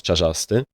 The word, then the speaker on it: Czarzasty: Uh Czarzasty, not Czarzasty. Uh that's how we pronounce this actually.